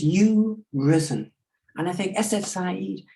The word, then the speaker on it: Urizen: So we've reached the end of the evening, and you did ask, how does one pronounce Urizen? And to be perverse, I think it is you-risen.